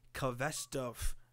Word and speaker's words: Khvostov: But today, we're going to be talking about the Khvostov. I do believe that's how you say it. Obviously, it's a Russian name.